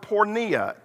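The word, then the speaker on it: porneia: there in the original language is the word pornea it's spelled p-o-r-n-e-i-a we get our word pornography from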